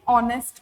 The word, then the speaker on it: honest: An honest officer. So, she is an honest officer is the answer. All right. So, explanation honest begins with a silent H producing a vowel sound, an honest officer.